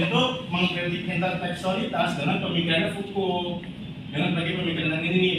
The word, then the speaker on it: Foucault: Apa sih bacanya? Foucault. Foucault.